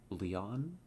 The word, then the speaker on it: Leon: oh um Lee on Leon the N is nasal stop halfway pronouncing the n Leon Leon I I don't know